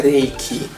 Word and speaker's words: Reiki: muitos telespectadores que o 'rei que né a pronúncia correta em japonês é a lei que é ea questão de